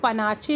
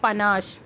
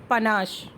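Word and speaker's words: panache: यूज़ हुआ है पनास, इसको पनाचे मत बोलिएगा, इसका जो करेक्ट प्रोनाउंसिएशन होता है वो होता है पनाश, पनाश।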